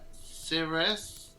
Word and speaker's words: Cirrus: But yes, we'll move on to Cirrus.